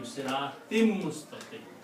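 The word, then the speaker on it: صِرَاطٍ مُسْتَقِيمٍ: So siratim, siratin, mustaqim, but when you read this together, you pronounce, instead of noon, you pronounce mim, siratim mustaqim.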